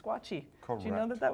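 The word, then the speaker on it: squatchee: it's called the what a squatchy can you spell that s-q-u-a-t-c-h-e-e oh two e's it's squatchy do you know that that was called that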